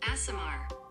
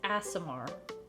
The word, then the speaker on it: aasimar: ASMR. It really is ASMR.